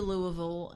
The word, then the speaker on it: Louisville: wrong or goes Mary Lily had moved to Louisville and had moved him within his house it's two syllables Louisville yeah Louisville Louisville Louisville I've actually